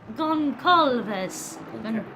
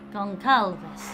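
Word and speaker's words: Gonçalves: Alexandre Goncalves. Yeah. In certain races, he has a little accent on the C. It makes it a S down.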